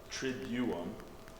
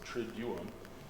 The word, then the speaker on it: Triduum: That's not actually how they pronounce it. It is Triduum, which means, it's a Latin word.